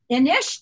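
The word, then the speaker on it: Inis: Innis. That's Innis. Right. And tell them why it's Innis. Because it's from Ireland. That's right. And that's the Gaelic.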